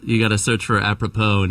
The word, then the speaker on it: Apropos: You just got to you got to search for Apppropo and it's AP R O P O S. The S is silent.